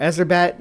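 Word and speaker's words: Erzsébet: That's some Elizabeth Batroy um or Ezraette, I guess, is the proper way to say her name.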